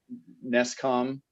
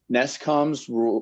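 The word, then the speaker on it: NESCAUM: And then you also cite, I don't know if there's a good way to pronounce this acronym. I think we usually refer to it as NESCOM.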